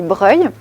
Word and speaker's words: Broglie: Donc l'hôpital de Broglie. Tac, sous la sculpture. Alors faut trouver une sculpture déjà. Donc ici, nous sommes devant l'hôpital de Breuil. Alors ça s'écrit Broglie, mais ça se dit Breuil.